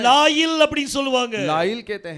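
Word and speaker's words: לילה: மட்டும் உச்சரிக்கும் போது केवल इसको बोलते समय அத லாயில் அப்படினு சொல்லி உச்சரிப்பாங்க. उसे लाइल करके कहते हैं।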